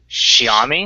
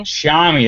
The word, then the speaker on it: Xiaomi: and then pronounce it pronounce the first word as if it were shower so what the mystery ends here according to the um shami shami that's right uh Shia